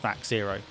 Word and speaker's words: THAC0: Let's start with THAC0, which perhaps more accurately would be pronounced THAC0.